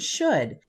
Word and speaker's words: should: Should has 3 sounds, sh, d. The first sound, sh, is spelled with the digraph sh. The last sound, d, is spelled with the letter d. We can read these parts using our phonics knowledge. The middle sound, is spelled with the letters O-U-L.